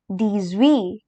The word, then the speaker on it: dix-huit: Then we have 17, which is pronounced as dix-sept. Dix-sept. And here comes 18, which is called as dix-huit.